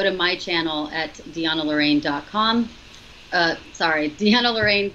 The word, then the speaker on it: Deanna: I want to spell that because, you know, it's not Deanne, it's Deanna. Deanna. So.